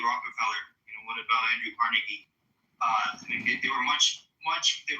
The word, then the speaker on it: Carnegie: Okay, so pronounce his fucking name right. It's Carnegie.